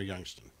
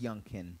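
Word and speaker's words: Youngkin: filed lawsuit against governor youngston it's young kin yunkin yeah hard name to pronounce nine school districts filed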